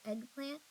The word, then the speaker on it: eggplant: of saying it strangely a lot of times we say egg like a long a but if we say eggplant it's easier to remember that starts with short e how about this one